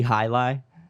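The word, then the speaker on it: jai alai: jolly ali really yeah it's actually high lie but the way it's spelt is like j a i a l a i don't check me on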